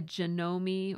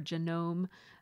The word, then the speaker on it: Janome: This sewing machine, because it's just a little half size, this is a Janome or Janome New Home printer, or not printer, sewing machine.